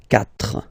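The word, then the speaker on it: quatre: So you get this Q-U-A, but then the sound that you will pronounce is K, okay? 4, 4.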